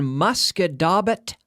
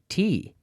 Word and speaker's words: Musquodoboit: They live in Musquodoboit Harbor.